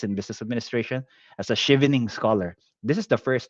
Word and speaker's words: Chevening: research a bit what Shing is and I did not even know how to pronounce it a while ago I thought it was chevening so it turned out it's Shing scholar so which is basically